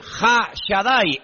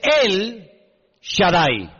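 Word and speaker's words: אל שדי: Ja solamente hay uno así que en hebreo no dice Ja Shadai el todopoderoso sino dice él Shadai él en hebreo significa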